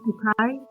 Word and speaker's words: Bucay: Ecuador, but in Bouquet, I guess Bukai is how they say it.